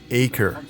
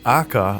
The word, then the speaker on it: Acre: do you pronounce that it's pronounced as acre but akka or Akra with an accent I'm just gonna go